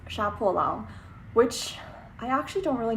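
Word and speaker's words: 杀破狼: So on that topic, one of the books that I really wanted to read was Sha Po Lang, or in like proper Chinese pronunciation is Sha Po Lang, which I actually don't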